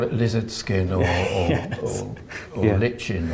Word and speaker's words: lichen: lizard skin or or lichen or like it liking i think it's the correct pronunciation it always makes me